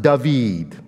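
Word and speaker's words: דָּוִד: three more letters and that's pronounced dahveed which is in Hebrew David so leathery what does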